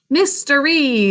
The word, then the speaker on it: mystery: write it just once write it in print mystery what's that mystery in the first syllable of this word samhita do you know